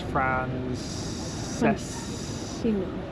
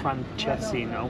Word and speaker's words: Francesinha: It was Francesino. Francesino, not Francesino. Yeah, but really delicious.